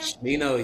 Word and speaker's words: Smino: Smino. Is that how you say his name? Shmino, yeah.